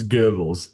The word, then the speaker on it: Goebbels: I took a Goebbels, little German in college, so I understand how to pronounce it. It's Goebbels.